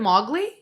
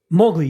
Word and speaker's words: Mowgli: ] tiger and the it isn't MOG Lee Mowgli yeah oh we call it